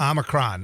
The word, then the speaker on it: Omicron: Did I pronounce that right? I think it's Omicron. Omicron. You threw an N in there.